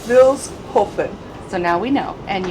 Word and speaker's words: Vilshofen: And they just said the name of the city is Vilshofen, so now we actually know how to pronounce it. Vilshofen. There's no sh. Vilshofen. There's no sh. It's Vilshofen.